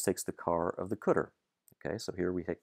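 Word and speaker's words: cdr: car we do pronounce this one this is catter we pronounce some of the others um this one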